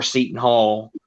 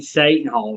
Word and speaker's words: Seton Hall: I've always called them Satan Hall for some reason. I thought that's how they pronounce their name.